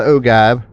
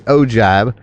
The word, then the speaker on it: ogive: This is going to be what they call the ogive, or the ogive, spelled O-G-I-V-E. I've heard it pronounced both ways.